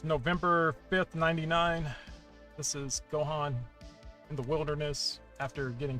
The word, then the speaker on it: Gohan: It's like, it's pronounced with an A though. It's Gohan.